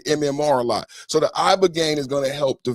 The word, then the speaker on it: ibogaine: Ibogaine. Remember the name. Is that pronounced relatively properly, would you say? Yes. I don't want to get it wrong. Ibogaine. Body. Ibogaine. Rogaine with an ibo.